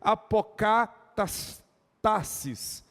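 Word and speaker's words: ἀποκατάστασις: Eu fui atrás do significado dela no grego, se pronuncia restauração no grego assim, apokatastasis, essa é a expressão grega para restauração, que transmite a ideia, veja bem, de restauração de uma teocracia verdadeira.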